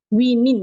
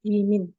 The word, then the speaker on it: women: wiin nah gitu bedanya coba pakai aja wimin ya wimin alright m apostr s